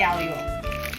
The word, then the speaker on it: aglio: So, I made spaghetti alo. It's spelled aglio olio.